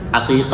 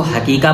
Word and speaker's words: عقیقہ: سمجھنے کی ہے کہ صحیح تلفظ عقیقہ ہے، یعنی اے کے ساتھ۔ بعض لوگ اس کو حقیقہ بولتے ہیں، تو حقیقہ